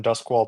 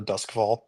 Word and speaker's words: Duskvall: from Dusk Wall to Duskvall? No, that's supposed to be the language that like it's supposed to be how it's pronounced in the language.